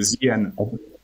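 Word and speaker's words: Zeehaan: c'est en hollandais. C'est le coq des mers, Zian, en fait. C'est Z-E-E, c'est la mer. La mer en hollandais, Zian.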